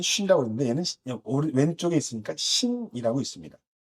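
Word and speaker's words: שין: 그래서 신은요, 신이라고 읽고, 하나는 쉰이라고 읽고, 나머지는 타오라고 읽습니다.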